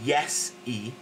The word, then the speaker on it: Iesu: Iesu, which is Jesus, yeah? So it's basically Iesu, or Iesu, yeah?